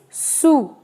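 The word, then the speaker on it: sous: this case of course s is coming at the end so it is silent right so the pronunciation is su o u is a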